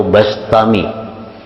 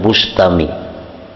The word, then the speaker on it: Bistami: Yazid albistami atau albastami membacanya bistami atau bastami jangan Bustami jadi Bi atau ba karena dalam beberapa kitab ada yang membarisi mendabitkan bikasril ba bistami ada yang bifathil ba bastami Abu Yazid bastami atau